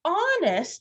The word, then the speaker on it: honest: a good guess but honest starts with a silent h mrs brisbane the word